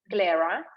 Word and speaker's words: Glera: at least 85 percent of glare grade you spell it uh g l e r a glarer and the rest can be some specific uh